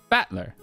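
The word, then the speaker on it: Battler: fight and person and it's pronounced batler okay yeah that makes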